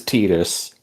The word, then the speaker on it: Tidus: His name is spelled Tidus, so he is Titus, and Titus Deletus.